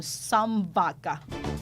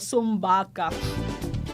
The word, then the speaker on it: Sambaca: gaya nga po ng sambaca yun pala yung tamang pronunciation doon lagi ko kasing sinasabi sumbaca e ang ibig ibig